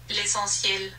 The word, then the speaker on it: L'essentiel: According to the translator, the correct pronunciation for this Guerlain foundation is l'essentiel.